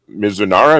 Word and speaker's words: Mizunara: This is the 8-year finished in Japanese Mizunara. Is that how you pronounce that?